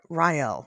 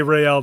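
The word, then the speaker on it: Raël: say Rael just say Ryel the rest of the time. As long as it's consistent it doesn't matter. I feel like Ryel is how you say his name, but you say real Rael.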